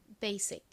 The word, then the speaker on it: basic: 그리고 다음 한국식으로는 이 단어에서 지읒으로 읽고 실제로는 시옷으로 읽는 S가 왔고요.